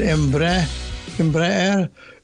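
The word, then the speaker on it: Embraer: High absolutely this is emba sa Portuguese pronunciation embre is a Brazilian multinational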